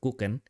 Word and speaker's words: Kuchen: the German teachers usually use is the word kuchen, Okay. and then especially as an Indonesian, like the way like German alphabet is pronounced pretty similar.